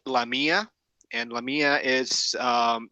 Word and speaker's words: LaMia: mine in South America and uh it's actually pronounced lamia and lamia is um it's a an acronym